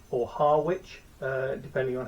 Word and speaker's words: Harwich: I went to a place called Harwich or Harwich. depending on how you pronounce it. It's spelt Harwich, but I've no idea why it's pronounced Harwich in the UK.